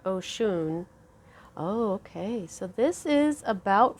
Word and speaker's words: Oshun: yay okay i love ocean her name sounds like ocean but the way it's spelled i say it oh shoon okay so this is